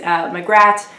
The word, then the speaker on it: Magrat: at the moment is magrat which is how i pronounce her name I understand different people pronounce it differently and it works a lot better if you have a British accent since it's a misspelling of Margaret nanny ogg and Granny